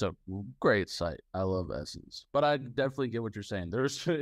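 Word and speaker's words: Ssense: s-s-e-n-s-e yeah we pronounce and I believe they pronounce the essence just well they're gonna um we were talking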